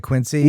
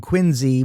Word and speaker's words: Quincy: the town names and he mispronounced Quinsey. No, he didn't pronounce it. He said Quincy. And I was kind of like, dude, dude, dude. You didn't grow up far away from Quinzy with a Z.